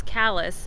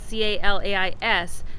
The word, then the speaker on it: Calais: there's a little mnemonic to remember how to pronounce callus even though it's spelled c-a-l-a-i-s the saying is if it's if they pronounce